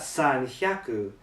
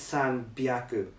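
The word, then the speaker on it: 三百: For example, 100 is hyaku, but when you say like 300, it's not san hyaku, it's san byaku, and the pronunciation of the kanji changes.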